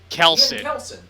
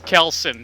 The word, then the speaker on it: Kelson: Kelson. Oh, I thought it was Kelso. That's funny. Yeah, Tanner, it's Kelson, not Kelso.